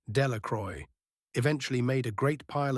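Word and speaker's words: Delacroix: The villagers pronounced this name Delacroy, eventually made a great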